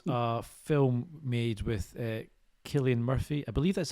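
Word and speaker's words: Cillian: retreat which was a film made with uh Killian Murphy I believe that's how you say his name and Jamie Bale. Killian.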